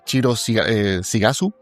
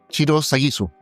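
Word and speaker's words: Shiro Sagisu: De hecho, la banda sonora la compuso Chiro eh Sigasu. Puedo colocar el nombre ahí si lo si lo pronuncié mal. Chiro Sagisu, eh, y van a encontrar piezas de musicales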